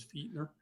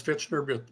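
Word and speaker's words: Fichtner: it how it sounds got the true pronunciation of my name is Feer oh okay from Germany gotta but everybody does fitner because it sounds with t in front sounds like fitner and that's fine I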